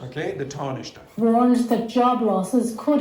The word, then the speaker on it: Taoiseach: The Taoiseach has Taoiseach. Okay, the Taoiseach.